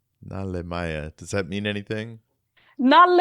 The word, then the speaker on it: Nalle-Maja: Nalle-Maja. Nalemaya.